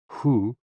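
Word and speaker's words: hoo: associated with the kidneys h o o pronounced like who which is associated with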